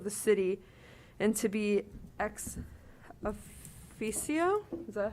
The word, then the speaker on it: ex officio: and activities of the city and to be ex officio, is that how you say it? Ex officio.